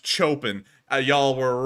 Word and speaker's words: Chopin: you said Chopin it's Chopin uh y'all were wrong it's Chopin I was right and so that are you sure about that yeah this is the American pronunciation Chopin like on the pronunciation